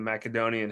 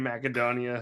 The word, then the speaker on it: Macedonia: those of you listening it could be pronounced either way ma in my opinion macadonia sounds a little bit more pretentious so that's why I